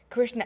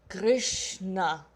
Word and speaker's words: Krishna: means a limited beauty Krishna or Krishna yeah we don't really pronounce the a actually the way it's written Kri a session you